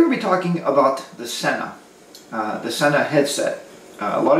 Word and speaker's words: Sena: say one day hello Xena hello Xena didn't answer so the proper pronunciation is hello Sena when I said Sena